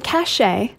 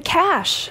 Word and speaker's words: cache: blank on your computer it's not the cache it's not cach cash cash Shear cash sounds like a name uh no it's the cash cash I know extra letters but it's just the cash okay this one you